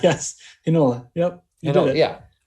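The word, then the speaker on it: Heinola: We've only got 2 games, but Nola? Hinola, yes. Hinola.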